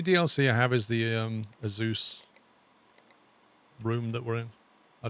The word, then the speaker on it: Asus: If you ask them officially, they'll say Azus. Or Asus is also common. Asus or Asus is the common pronunciation that they prefer.